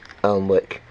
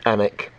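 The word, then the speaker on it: Alnwick: hardy brothers makers uh almwick which is pronounced anik and um you can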